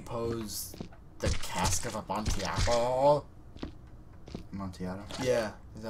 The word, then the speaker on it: Amontillado: Amontillado? Yeah. Is that how you say it? As far as I'm concerned. I thought there was a G in there somewhere. No, there's no G.